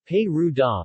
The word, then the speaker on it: Perugia: Perugia Italian pronunciation pay rude ah listen Latin parousia is the capital city of